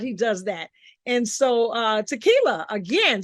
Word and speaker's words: Takila: Takila. Takila. Y'all see, I've been saying it wrong. It's tequila, like the worm, like the drink, tequila.